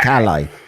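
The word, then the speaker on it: Calais: It's it's pronounced Cala and then it's do we've had a confirmation.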